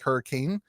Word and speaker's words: Hurricane: It's spelled like hurricane, but everybody here calls it Hurricane, West Virginia.